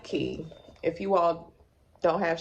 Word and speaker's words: Quay: I like Key. If you all don't have shades from them, maybe try them out. It's spelled Quay, but it's pronounced Key, in case you guys didn't know that.